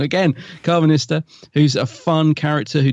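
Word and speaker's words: Karvanista: You got Carvanista, nearly said it wrong again, Carvanista, who's a fun character who delivers the lines well.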